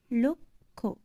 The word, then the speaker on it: লক্ষ্য: সংযুক্ত ব্যঞ্জনবর্ণে জ ফেলা যুক্ত হলে জ ফেলা ধ্বনি লোপ পায়। যেমন দেখো, লক্ষ্য, ল কয়ে মূর্ধন্য ষয়ে জ ফেলা। কিন্তু দেখো আমরা যখন এটা উচ্চারণ করি তখন কি করছি, লক্ষ্য, লয় ওকার, ক ক্ষয় ওকার, লক্ষ্য।